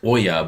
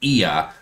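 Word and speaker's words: Oia: We always thought it was Oya, but it's actually Ia, O-I-A is how they pronounce it.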